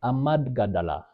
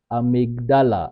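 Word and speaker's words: amygdala: call um um amad amadala right it's quite it's quite a huge term uh to to uh to pronounce but the pronunciation is amigdala activation that is the fear flight activation.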